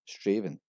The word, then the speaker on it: Strathaven: And at number 7 on the list we have Strathaven. This is actually pronounced as Straven.